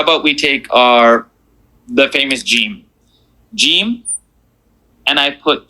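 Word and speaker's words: جيم: Name of the letter, Jim.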